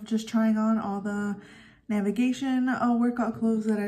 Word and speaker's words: NVGTN: I might feel about navigation for those of you who don't know they spell it Envy gtn navigation like the word but without any of the vowels so yeah let's get